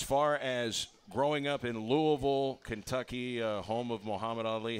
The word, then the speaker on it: Louisville: up in uh Louisville Kentucky and I am pronouncing it right Louisville yes sir uh basketball a lot of basketball